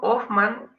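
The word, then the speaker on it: Hoffmann: e por lo forman se escribe empieza con la h y se pronuncia con mango el horno of man vino a hacer un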